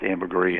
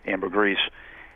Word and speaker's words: ambergris: with the stuff called ambergris and I've heard it pronounced amberri and Amber Gree and eventually that finds